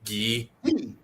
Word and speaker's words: Guy: My name is not pronounced the way it's spelled. Are you saying about it being for the most French people by calling guy ghee? Right. Right. Uh um Gary Younger calls me Gee.